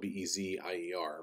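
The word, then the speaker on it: Bézier: into one that has a what they call bezier path okay it's spelled like it's spelled bez ier but it's pronounced bezier okay if i click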